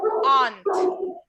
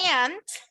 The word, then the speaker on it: aunt: Yo la digo aunt, pero muchas personas también la dicen aunt. Cualquiera que ustedes digan está bien, lo único que hay que cuidar es no decir aunt. No voy a pronunciar la U realmente, solo lo que cambió es el sonido de la A.